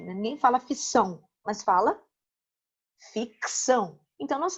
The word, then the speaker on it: ficção: Então você fala assim, ó, por exemplo, ficção, né? Porque eu ainda tenho esse C mudo sendo utilizado para que a palavra tenha o seu sentido. Né? Ninguém fala ficção, mas fala ficção.